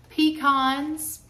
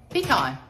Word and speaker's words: pecan: Pecan. Pecan. All right. English would be you pronounce the first vowel by its name and the second one by its sound.